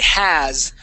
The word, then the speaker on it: has: yes now that we we say has with that s sound at the or or the S the z sound of the S there at the end nice job okay uh